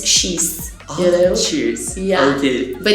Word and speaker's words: Xis: But the thing is that Brazilians, we took this word from cheeseburger and then we started to pronounce as cheese.